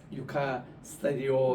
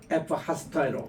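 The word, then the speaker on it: ευχαριστώ: 우리 헬라어로 감사합니다, 이것을 옛날에는 유카스타디오 이렇게 우리가 신학교에서 배웠는데, 그리스 가보니까 지금은 이게 감사하다는 것이 발음이 틀리더라고요. U라고 읽지 않고 F라고 읽더라고. 그래서 이제 에크 하스테로 이거를 이제 이제 감사하다 이렇게 읽던데, 우리 한번 따라합시다.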